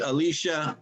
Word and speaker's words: Alicia: alicia alicia yeah no we pronounce it alicia other people pronounce it a little differently okay anyway welcome aboard